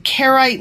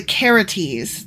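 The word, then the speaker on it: Carites: um first thing is I was saying carite mercenaries but actually I'm pronouncing that wrong it's the caretes not the kerites ah okay yeah and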